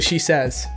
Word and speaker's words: Shesez: Am I pronouncing your name right? It's actually Shesez.